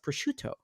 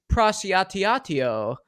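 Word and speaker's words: prosciutto: uh deli meat right it's obviously pronounced pruto but he I forgot the video where he's like you're gonna add cheese and then a little prao and then and you're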